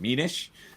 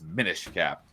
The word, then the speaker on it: Minish Cap: it's a basically a an abbreviation for diminish because you go down really small. Yeah. So it's min cap is apparently the correct way to say it.